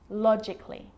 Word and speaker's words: logically: Now, the letter A can be silent, especially in words that end in A-L-L-Y, like these. Romantically, musically, logically. So I'm not pronouncing romantically, musically, and logically. Cut the A out. Get rid of it.